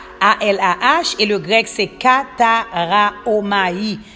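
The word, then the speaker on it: καταράομαι: A-L-A-H, et le grec, c'est Kataraomai. Kataraomai, K-A-T-A-R-A-O-M-A-I, Kataraomai.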